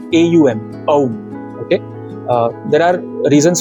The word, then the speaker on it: Om: Okay, and once you do that, then when you are exhaling, say Om. Now Om, you generally see the spelling as OM in English. Okay, but when you pronounce Om, it should be AUM.